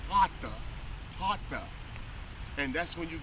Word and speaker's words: pater: It's gonna say pater, pater.